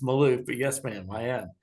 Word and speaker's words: Malouf: says are you she said Miss because she didn't how pronounce my name I said yeah it's Maloof but yes ma'am I